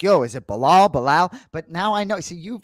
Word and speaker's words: Belal: Belal, I wanted to ask you, like, do you prefer Belal or Belal?